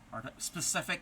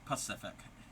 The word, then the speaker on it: specific: Specific, yes. Yeah. A lot of people pronounce it Pacific. Nope, that's a big ocean.